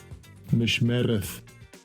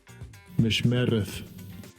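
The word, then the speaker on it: מִשְׁמֶרֶת: How do they pronounce it? Strong's H4931. Mishmereth. Mishmereth.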